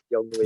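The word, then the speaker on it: Younghoe: Young Wei.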